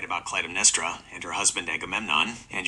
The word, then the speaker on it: Clytemnestra: In ancient Greek and Latin, syllable weight determines the stress. The name is broken down as Cly-tem-n-e-s-t-r-a. The penultimate, second-to-last, syllable is n-e-s. Because it ends in two consonants, street, it is a heavy syllable. By the rules of classical linguistics, a heavy penultimate syllable must take the stress. Therefore, it is definitively Cly-tem-n-e-s-t-r-a, never Cly-tem-n-e-s-t-r-a.